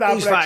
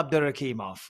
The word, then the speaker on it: Abdurakhimov: Let's just go with Abdurrahimov, shall we? Well, we can, or we can just go, or we can go with the actual pronunciation, Shamil Abdurakhimov.